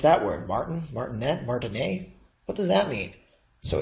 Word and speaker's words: Martinet: was named Martin a and the reason I'm pronouncing it not martinet but Martin a is the person is he was a French